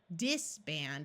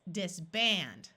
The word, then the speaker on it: disband: louder and more clearly so it's not disband it's disband remember a double s